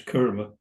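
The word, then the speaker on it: Kama: And she says karma, K-A-M-A, not K-A-R-M-A, which we pronounce kurma.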